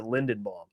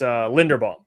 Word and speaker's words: Linderbaum: He says Monken gets you one step closer to Lindenbaum. No one knows how to say this guy's last name. Can we just go to AI? How do you say it? Or something? Tyler, it's Linderbaum.